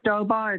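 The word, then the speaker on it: Stobaugh: i'm sorry i didn't get it sure it's stobar it's spelled s is in sam t is in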